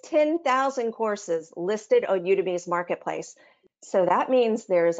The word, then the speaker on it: Udemy: to start is a site called udemy it's u-d-e-m-y but it's pronounced udemy and you to me right now is one of the most popular